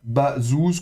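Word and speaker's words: בָּזוּז: Et donc on prononcera ça bazouz comme une semi-consonne.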